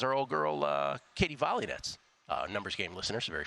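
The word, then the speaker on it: Volynets: old girl uh Katie volets uh numbers game listeners very familiar with our Katie volets bets in the past her last name is volets she became a professional tennis player she pronounced it volet by the way she's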